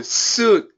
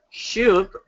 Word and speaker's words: suit: Is it suit or shoot? Shoot. No, suit. I got to get a suit clean and I have a funeral funeral on Friday. Good job. One more time, Jay. I got I got to get a shoot. And I What is different? Shoot and shoot. S O T P and S U T completely different.